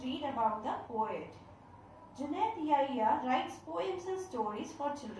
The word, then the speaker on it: Yahya: The word pronounced as Yahya.